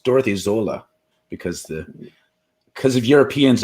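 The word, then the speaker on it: Sölle: i've just found out i've been pronouncing dorothy sola's name wrong it's dorothy zola because the because of europeans in their funny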